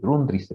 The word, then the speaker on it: Grundrisse: tan rápido los rúbrices es alemán así como se escucha así como se escucha es este se pronuncia todas las letras así grundrisse porque luego pronuncian como inglés no Entonces no es